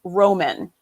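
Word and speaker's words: rómen: It's for east, and you pronounce it Roman.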